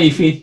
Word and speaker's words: Eevee: Bacanya if atau ivi sih. Gimana mas tadi? Kalau saya mah Eevee, kalau saya Eevee. Eevee ya. Ya adalah Eevee.